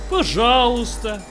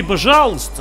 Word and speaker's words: пожалуйста: Пожалуйста. It means please. But pay attention, friends. The E is silent. So you say пожалуйста, not пожалуйста.